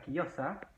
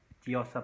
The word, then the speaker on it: Chiosa: Y ahí está Chiosa, que no es Chiosa porque es italiana, y es Chiosa, la CH es una Q.